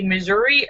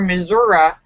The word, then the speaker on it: Missouri: says they're too controversy whether it's wish to be Missouri or missourah actually the correct pronounced in pronunciation is misery I live in misery that's true that's really